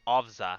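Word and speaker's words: Owca: Okay, you pronounce it Ovza.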